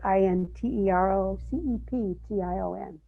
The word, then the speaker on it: interoception: the body gives us it's spelled i-n-t-e-r-o-c-e-p-t-i-o-n interoception there's been a lot of